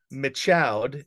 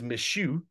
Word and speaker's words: Michaud: It's not Michaud, it's Michu.